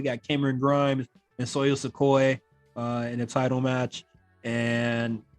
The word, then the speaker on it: Sikoa: We got Cameron Grimes and Soyo Sikoa in a title match, and Cameron Grimes wins. I thought this match was really good. Soyo Sikoa, sorry. Sikoa? Yes, it's Sikoa.